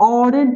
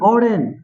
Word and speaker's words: Auden: इसको ऑर्डेन पढ़ेंगे, ऑर्डेन, इसका प्रोनाउंसिएशन ऑर्डेन होगा।